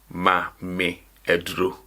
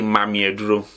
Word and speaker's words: ma me aduro: But this is not how you will say it. I'm only saying this in order for you to get the pronunciation very well. We will say mami aduro, mami aduro, mami aduro.